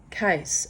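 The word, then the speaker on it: Cees: um I I continue case it's spelled c EES but pronounced case as a suitcase or legal case or nut case his name was cornelus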